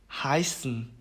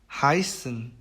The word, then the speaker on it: heißen: 그 다음에 이제 AI, AY, EI 이렇게 세 개의 경우에는 발음을 I라고 얘기를 합니다. 그래서 Kaiser, Kaiser, Bayern, Bayern, Heißen, Heißen 이렇게 발음을 합니다.